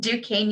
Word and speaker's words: Duquesne: an admissions counselor from duquesne that's how you pronounce it duquesne university in pittsburgh pennsylvania we were founded early